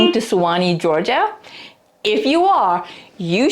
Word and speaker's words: Suwanee: suani Georgia you are in for treat because Swani is a unique and vibrant place with a bit of twist in its name it's spelled s u w n but it is pronounced as Swani why the twist well it has a fascinating